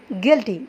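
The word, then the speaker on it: guilty: अभी देखिए जी after you is silent. यह आपने याद रखना है। जी के बाद जभी भी यू आएगा ना वो साइलेंट होगा। गस्ट guess गिल्टी।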